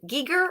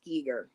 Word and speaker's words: Giger: geiger's in here too geeker i'm sorry i never say it right i've been told it's it's giger i want to say geiger but my dyslexia screws things up it's probably he also